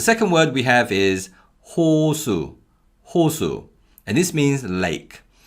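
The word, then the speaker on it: 호수: and this means lake in the first syllable we use the hear and the vowel o so it's ho ho and in the second syllable we use shiod with a vowel the next word is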